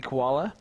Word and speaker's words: Koala: That's Andy Koala. For those of you that are in the same chat as him, that is how you pronounce his last name.